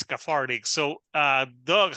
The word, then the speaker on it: KTHRTK: it's called a farting you know it's spelled Kate H rtk but it means cathartic so uh Doug how